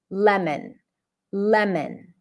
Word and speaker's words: lemon: uh let's practice it Le not lemon there is no o again not a huge